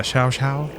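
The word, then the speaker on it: Xiao: Is it X-I-A-O? Shao? That's always what I imagined. Yeah, Shao.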